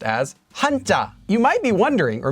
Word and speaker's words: 한자: should also note that it's not pronounced as hanja it's pronounced as hanta you might be wondering or maybe you're not